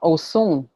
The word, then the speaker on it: Osun: Osun, O-S-U-N, without the dot underneath, is a different divinity.